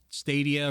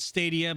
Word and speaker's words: Stadia: i've said stadia but i've had people correct me and say stadia um they they say it in their ads they're like google stadia like unless their ads themselves are being mispronounced no it's stadia well i've got i've